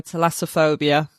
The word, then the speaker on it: thalassophobia: There we go, thalassophobia.